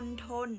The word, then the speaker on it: มณฑล: ไป ค่ะ ฮะ อ่ะ อ่ะ อ่ะ คำ ว่า มณฑล เอเลี่ยน อาจ จะ เคย ได้ ยิน ใช่ ไหม